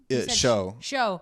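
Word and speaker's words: Shou: I don't blame him for that because this guy, Shao, he pronounced his name and Show. Yeah, Show. And he's doing this, like, he's also endorsed Trump.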